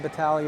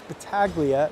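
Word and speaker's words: Battaglia: This one chipped off the boards and Battalia will go back to get it. If you're saying, "No, that's Betaglia." Then, well, yes, it is, but I pronounce it the Italian way.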